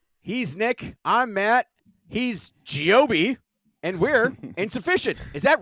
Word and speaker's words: Gio-B: yeah, it's that Italian. You got to say it like you have an attitude. It's Gio-B.